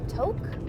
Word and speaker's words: Tok: go just south of Tok. I think that's how people pronounce it, T-O-K.